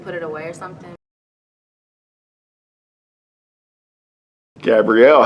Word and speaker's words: Gabrielle: Gabe, but like there's like 2 L's and 2 E's, so I'm not sure how they get that.